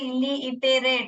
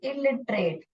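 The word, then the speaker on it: illiterate: अब मगर पढ़ने के टाइम में इली इटेरेट ऐसा नहीं पढ़ोगे, इलिटरेट, इलिट, इलिट रेट, क्योंकि ई का जो साउंड है वो जो स्वर है उसका साउंड है,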